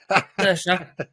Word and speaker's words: Saoirse: Yeah, this is a new science fiction thriller on Amazon Prime, starring Miss Rowan, because I can't pronounce her first name. Saoirse.